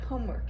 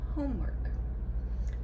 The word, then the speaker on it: homework: And we say homework. And I'm sure many of you can already tell the stress is on the first syllable.